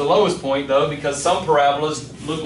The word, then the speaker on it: parabola: It's spelled parabola, but we say parabola.